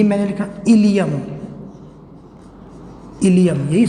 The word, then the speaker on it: ileum: ये टर्म भी आता, ILE की जगह IUM, ये भी इलियम, दोनों को इलियम ही पढ़ा जाता है। ये इलियम कहाँ का पार्ट है? इट इज़ the part of small intestine. Okay, और इलियम इट इज़ the part of bone.